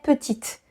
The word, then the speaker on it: petit: Yeah, so that's why there is a T here, even though you don't hear it when the word is masculine.